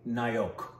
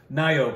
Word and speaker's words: Nayak: that you pronounce that nyak almost what is it it's actually Nyo cuz Bengali yeah and O's the O's the O's have it but yes Nyo which is bengali's favorite